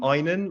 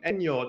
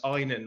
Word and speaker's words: Ainon: It's um Ainon, like your eye. Everyone's like, "Hey, Ainon." Hey, um "Enion." And like no one can say it, but it's Ainon, like your eye.